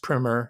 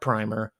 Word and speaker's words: primer: this book it's a good primer yes it's pronounced primer not primer primer for people who are just realizing that